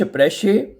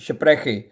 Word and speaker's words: spreche: Ich spreche oder ich spreche। ये जो लफ्ज़ स्प्रेखे है इसको खे और शीन दोनों की तरह आवाज़ में प्रोनाउंस किया जाता है।